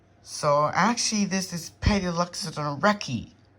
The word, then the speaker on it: Palaeoloxodon recki: And good God, I pronounced it wrong. So actually this is Palaeoloxodon Recki. Palaeoloxodon Recki.